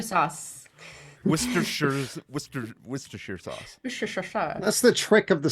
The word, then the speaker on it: Worcestershire: And how during the trip, a man had given him supernatural intelligence of the Scots' defeat at Worcester?